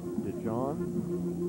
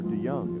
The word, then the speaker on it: DeYoung: DeJohn, or DeYoung, it's pronounced.